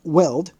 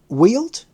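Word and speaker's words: Weald: dense forest of the weld obstructed that I'm sorry pronunciation um wheeled would that be w-e-a-l-d in the South for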